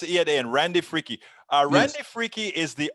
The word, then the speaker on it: Fricke: i'm here with randy frick is that how you say your name real close fricky i pronounce the e on the end you pronounce it and randy freaky a randy freaky is